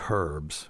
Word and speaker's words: herbs: And then they say herbs instead of, they pronounce the H.